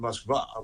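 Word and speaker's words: Москва: If people started calling it Moskva, which is how it's actually pronounced in Russian, everyone would say, "Where's that?"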